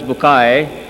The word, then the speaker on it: Bucaille: scientist and a scholar of quran dr maurice bukhail pronounced as maurice bukai am i right doctor doesn't matter okay he's